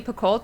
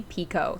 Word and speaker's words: Picoult: which is written by we've always called her jody picoult but guys it's jody pico like that's how she pronounces her own name so now we know